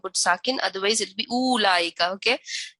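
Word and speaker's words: أولئك: Please don't put sakin, otherwise it'll be ulaika. Okay, this waw is written but it is not pronounced.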